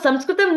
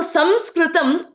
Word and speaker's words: Sanskritam: by our invaders because Sanskritam needs all parts of our mouth, right? When people could not pronounce certain words, what did they do? They compromised the words itself. So Sanskritam became Sanskrit.